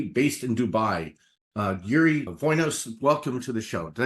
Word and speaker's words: Dvoinos: you for having me silent D spelled with the D but uh you don't have to say anything anything about the D and you are originally